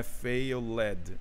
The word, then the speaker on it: failed: Lembrando que esse ED, ele não é pronuncia o E. Não é failed, tá? Failed. É failed. Somente o Dzinho que entra na pronúncia, tá? O E, ele é eliminado aí nesse som, tá?